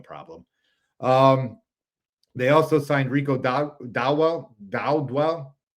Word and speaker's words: Dowdle: They also signed Rico Dowdwell. How do I say his name, Steve? Dowdle.